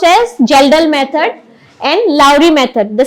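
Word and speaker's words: Kjeldahl: is gelal Method okay K is silent here K is silent it's pronounced as gelel method and Lowry method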